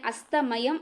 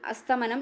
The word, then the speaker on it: അസ്തമയം: തീരുമാനം ആക്കിയാൽ മതി മക്കളെ അസ്തമയം ആണ് നമ്മൾ അറിയാതെ പോലും അസ്തമനം എന്ന് പറഞ്ഞു പറഞ്ഞൂടാ ഇത് തെറ്റായിട്ട് പലതരത്തിൽ പല സ്ഥലങ്ങളിൽ എന്ത് ചെയ്യുന്നുണ്ട് ഉച്ചരിക്കുന്നുണ്ട് സൂര്യ അസ്തമനം കണ്ടു മടങ്ങി വരുകയാണ് എന്നൊക്കെ പറയില്ലേ തെറ്റാണ് അസ്തമയമാണ് എന്ത് ശരിയായിട്ടുള്ള ഉച്ചാരണം അല്ലെങ്കിൽ ശരിയായിട്ടുള്ള പദം അസ്തമയം അസ്തമയം അസ്തമയം തെറ്റിപ്പോകരുത് തെറ്റിപ്പോകരുത് അസ്തമയം ഇനി സ്വജീവിതത്തിൽ അച്ചടക്കം പാലിക്കാത്ത